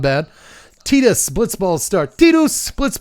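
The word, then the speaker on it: Tidus: Yes, his name should be Titus. Get it? Because water. It's game about water. Tides. Titus. It makes more sense. But his name is for some reason pronounced Tetus.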